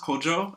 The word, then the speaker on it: Kojo: me with my name it should be pronounced Kojo and that's because my dad is from ghana but i was born